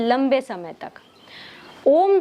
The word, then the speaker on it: ओम: असल में ओम कोई एक स्वर नहीं है, ये 3 स्वर का संगम है। अ, उ और म, इन 3 स्वरों को एक साथ मिला के ये ओम स्वर बनता है।